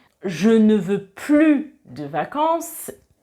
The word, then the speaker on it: plus: Et si je dis « je ne veux plus de vacances », ça c'est dans le sens négatif. Je ne veux plus de vacances, je ne prononce pas le S du plus quand c'est dans un sens négatif.